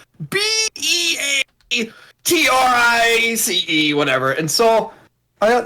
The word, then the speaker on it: Beatrice: We pronounce it Beatrice.